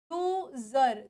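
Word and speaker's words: user: सर यू सर नहीं अब देखो यहां पे एस की साउंड कैसे आ रही है वो ज के फॉर्म में आ रही है तो वर्ड की स्पेलिंग क्या बन गई ये बन गई यूजर तो इट इज जड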